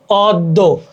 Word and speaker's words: অদ্য: তারপরে শব্দের আদ্য অ এর পর জফলাযুক্ত ব্যঞ্জনবর্ণ থাকলে সেক্ষেত্রে অ এর উচ্চারণ প্রায়শ ওকারের মতো হয়। যেমন অদ্য, অদ্য, দেখো অদ্য, অদ্য, মানে